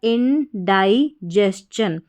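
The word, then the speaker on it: indigestion: इसको पढ़ा जाएगा इन डाइजेशन। तो यहां पर इनडाइजेशन नहीं पढ़ेंगे। इनडाइजेशन यहां पर टी आई ओ एन इस कोड के दो उच्चारण हैं और इस स्पेलिंग में इसको चन प्रोनाउंस करेंगे।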